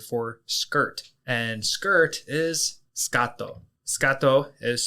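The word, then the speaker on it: スカート: the Japanese word for skirt and skirt is scato scato is spelled s u k a t o that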